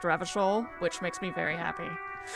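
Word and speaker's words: Revachol: Maybe there's a way to get up to the roof from the That tool tip said Revishol is pronounced Ravishol, which makes me very happy.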